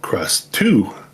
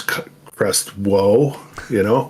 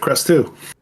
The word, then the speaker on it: Krustoo: So I had Krusty, and I thought, well, Krustoo for number 2, right? So I didn't want to spell it TWO because then people would be reading it as Krustwo, kind of thing. So I put it Krustoo.